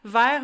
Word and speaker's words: vers: So there's it's all pronounced the same way. So there's vers, VERS, which is towards. There's vers, VERRE, that's a glass. There's vers, VERT, that is the color green. There's vers, VER, that is a worm.